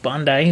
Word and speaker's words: Bondi: And when I first mentioned it, I called it the Bondi vet, but it's pronounced Bondi is what I learned.